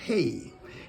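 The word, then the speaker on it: ה: Number 5, this is pronounced hey.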